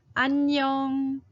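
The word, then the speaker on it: 안녕: don't know the word annyeong annyeong it is how you say hello hi to your friends and that actually contains this circle character twice the first time is silent the second time is that ng so you might want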